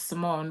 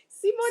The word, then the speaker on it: Simone: because like there is no way I would think that somebody would mispronounce Simone, but every single time people call me Simon, Simone. Oh my Simone, goodness. Simone, it's French.